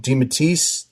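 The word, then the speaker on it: DeMatteis: I seem to think recall Peter David and uh JM Deatise, did I say it right?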